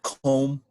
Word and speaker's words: comb: silent letters like um the word comb c-o-m-b the b doesn't even make a noise but what they've decided